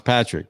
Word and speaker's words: Padraic: in there okay that's a unique way to pronounce patrick but i like it and so it's is